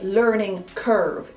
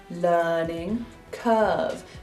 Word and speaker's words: learning curve: We do not say learning curve. If you do, you will sound American and your cover will be blown, agent. Watch me very carefully. Learning curve. Do you see how my chin drops to create the R? It does not learning curve. It is an open R sound.